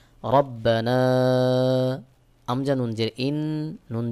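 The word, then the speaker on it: رَبَّنَا: আলিফের আমজাহ থাকার কারণে এক আলিফের জায়গায় আপনাকে তিন আলিফ টান দিয়ে পড়তে হবে সহি উচ্চারণ হবে রব্বানা আমজা নুন জের ইন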